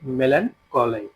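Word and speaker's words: melancholy: मेलन को मेलन कोय अब इसको इस तरह पढ़ते हैं अब जो ब्रिटिश और उस इंग्लिश में थोड़ा सा फर्क होता है वर्ड मीनिंग्स में और इसके प्रोनाउंसिएशन में लफज़ है मेलन कोले ठीक है मेलन कोले इसका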